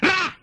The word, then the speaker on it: Ra: Egyptian sun god. One syllable yan. Ra!